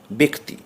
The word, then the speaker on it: ব্যক্তি: কখনো কখনো জফলার উচ্চারণ একারের মতো হয়, যেমন ব্যক্তি, বয় জফলা কয়তে হস্যই, কিন্তু পড়া হবে বয়কার কয়তে হস্যই।